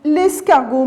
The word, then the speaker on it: escargot: est très bien escargots l'escargot mes petits enfants on n'a pas prononcé la lettre t à la fin très bien vous avez